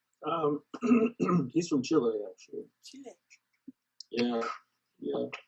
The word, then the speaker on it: Chile: he's from Chile actually Chile yeah yeah I have to say it correctly yeah not Chile Chile yeah from and um